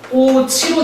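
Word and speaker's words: 꽃이: 발음이 달라집니다 어떻게 달라지죠 얘는 발음이 꼬치로 되고요 얘는 발음이 꽃만으로 되고요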